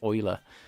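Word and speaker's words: Euler: Um, it's actually pronounced Oiler. Um, am I saying it too e like?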